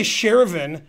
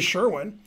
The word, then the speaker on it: Sherwin: You can't say Shervin. You can't pronounce the name like you want to pronounce it. That's the guy's name. Right? I mean, it's obviously Sherwin.